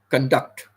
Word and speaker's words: conduct: We stress on the first syllable.